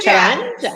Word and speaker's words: Karanja: Do I pronounce the name Karanja? Is it just Karanja or Karanje or Karanja or Karanja. Karanja?